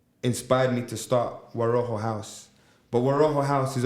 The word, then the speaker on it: WaRoho: WaRoho.